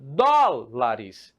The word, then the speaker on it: dólares: Porém, se eu coloco essa palavra no plural, opa, você percebe que ela vai deixar de ser uma palavra de 2 sílabas para ser uma trissílaba. E se ela é uma trissílaba, adivinha só o que vai acontecer? Adivinhou? Isso mesmo. Ela vai ganhar uma acentuação. E aí fica dólares, certo? Então fica trissílaba proparoxítona.